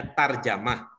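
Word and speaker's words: ترجمة: dari aku tarjamah ya kalau ada begini tulisannya itu bacanya tarjamah ternyata ah ah nanti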